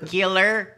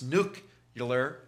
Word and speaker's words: nuclear: my Nuclear and nuclear nuclear yeah they're correcting all of that I'm getting emails Tom it's not nuclear three syllables it's nucular nucular that's three syllables no it's not nuclear